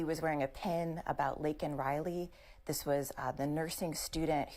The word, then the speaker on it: Laken Riley: Unfortunately for him, he said the wrong name. He said Lincoln Riley.